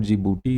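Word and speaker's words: Djibouti: तो D stands for जीबूटी। इसमें D silent है।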